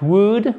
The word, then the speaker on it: would: If you had a magic wand, what would, on ne prononce pas le L, be the ideal.